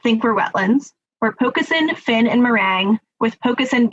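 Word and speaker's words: pocosin: think were wetlands were pokesin finn and meringue with pokasen being the top one four people did not think it was a wetland thanks thanks gala you actually did pronounce it perfectly pokes in uh is is uh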